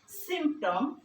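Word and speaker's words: symptom: অর্থ বাংলা লক্ষণ সূচক বা চিহ্ন শিরোনিম হচ্ছে সিমটম সাইন ইন্ডিকেশন সিমটম যেমন আমরা গ্রামার শিখাতে গিয়ে বলি লক্ষণ বা সিমটম কি?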